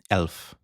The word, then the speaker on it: elf: দেখুন ১১, ১১ টাকে বলছে elf, ওকে?